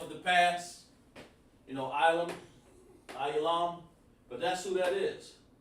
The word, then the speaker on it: Elam: Elam is called Ayalam. Oh man. On there, it's hard for me to pronounce that sometimes. Ayalam. There we go. Yalam. Alright? That's Elam. Ayalam. Even sounds like it.